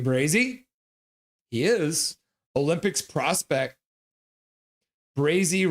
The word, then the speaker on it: Brazy: Brazy rhymes with crazy.